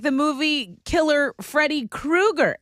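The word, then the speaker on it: Kroeger: So, Chad Krueger. Krueger. Chad Krueger? Not the grocery store, the serial killer haunting guy.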